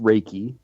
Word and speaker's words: Reiki: It's actually pronounced Reiki.